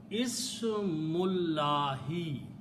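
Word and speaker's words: اسم الله: As I said, when we read them together, we do not pronounce this alif. So the word becomes Ismullahi.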